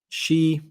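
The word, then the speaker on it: Xi: Phantom of Many Topics says, Alex, please stop using J or JH sounds to pronounce she. In Chinese, his name is the same sound as she, as in female.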